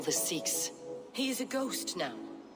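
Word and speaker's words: Seax: Find and assassinate the Sikh. Is it? I've heard it pronounced the Sax.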